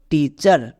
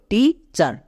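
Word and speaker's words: teacher: যেমন টিই এটি next C এইচই আর এর জন্য চার তাহলে কি হল টিচার আমরা যদি ওয়ার্ড প্যাটারন মনে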